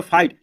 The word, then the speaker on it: fight: तो दोस्तों FIT इसको पढ़ देंगे फाइट, लेकिन इसमें लिखा है GHT है, इसको साइलेंट के रूप में मानते हैं, ठीक है।